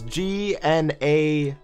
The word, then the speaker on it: gnats: It's, yeah, it's spelled with a G. It's G-N-A-T-S. Or well, the plural, gnats. Gnats.